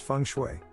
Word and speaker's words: feng shui: spiritual feng shui facebook twitter thailand feng shui pronounced feng shui is an ancient chinese art whose name translates